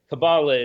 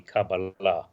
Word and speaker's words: Kabbalah: hope she's wrong uh cabala is simply the anglicized pronunciation in in correct Hebrew would be cabala accent end but either works and I'll slip back